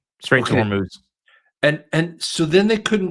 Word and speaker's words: Hormuz: And then they went into the Strait of Hormuz. Do I say that right? Please tell me if I'm saying that wrong. You said it right. Straight to Okay. Hormuz.